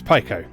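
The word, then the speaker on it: Piko: pico interactive collection um i believe that pico is actually the correct pronunciation because they changed their logo a while back and they made a big deal of the pie symbol um so i guess it's pico uh for anyone who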